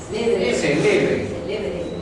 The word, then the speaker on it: célebre: No, celebré no. Aquí se pronuncia celebre. Y aquí se pronuncia celebré.